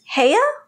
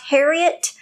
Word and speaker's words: Haya: Nyla says Jamila doesn't even know how to pronounce their daughter's name, which is Haya, not Harriet.